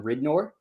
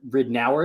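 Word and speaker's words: Ridnour: should just be i in my head it should have just been ridnor and they always said rid an hour and that drove me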